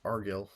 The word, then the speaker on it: Argil: It's not Agril, it's Argil. I've been saying it wrong.